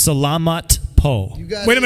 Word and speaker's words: Salamat po: I'm surprised that I was In able Tagalog, it's Salamat Po.